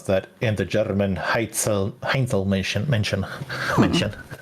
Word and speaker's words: Heinzelmännchen: that, and the German Heinzelmännchen. I cannot speak German in English accent. It's hard. Because I actually know how to, it needs to be pronounced. Understandable. Heinzelmännchen.